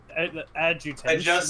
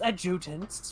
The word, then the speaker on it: adjutants: Adjustance. Which can believe. It's adjutants, which can amplify her bioresonance signals as well as produce their own.